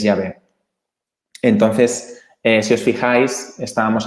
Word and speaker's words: Yahvé: y entonces le llamamos, en la Biblia se le llama Jehová, ¿vale? Pero bueno, ya sabéis que se pronuncia distinto, entonces es Yahvé.